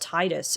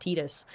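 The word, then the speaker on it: Tidus: I always thought the main character's name was pronounced Titus, and then I saw something recently where the creator said, "No, it's supposed to be pronounced Tetus."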